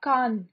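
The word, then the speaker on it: Kahn: then jules leforg jules leforg l-a-f-o-r-g-u-e then gustav khan gustav khan g-u-s-t-a-b-e k-a-h-n gustav khan and paul valerie paul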